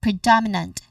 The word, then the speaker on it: predominant: Pre pre. And then following this, the second syllable is do, which has a short o vowel sound. And then following this, the third syllable is an e itself. It is short and unstressed. And lastly, nant. Nant short a vowel sound. Okay. All right. We put them together, we get predominant. Dom as the stress syllable.